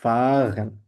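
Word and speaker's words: fahren: drive এটাকে বলেছে কারণ এখানে আরটা সাইলেন্ট থাকবে এখানে সাইলেন্ট বলতে মানে গলা থেকে জার্মান জার্মানের আর্থটা গলা থেকে সাধারণ গলা থাকে ঠিক আছে তো এক্ষেত্রে আমরা বলি ফাহান তো এটাকে আমরা বলে থাছে ফাহেন তো ফা গলাটাকে আমরা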